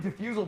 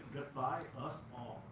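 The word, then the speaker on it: Defyusall: And then yeah, I've been calling you Diffusal for 6 years, and he never corrected me. I call him Diffusal every now and then as a joke. Oh really? Diffusal. And I'm like, I spell it, it's defy us all. Dude, and it's so funny because like it's like, oh, of course it's Defy Us All. That actually makes more sense.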